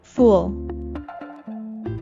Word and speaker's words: fool: foolish manner without thinking note that the double O in fool is an uh sound which we pronounce by raising the back of our tongue while rounding our lips and moving them forward a little uh uh fool fool and to be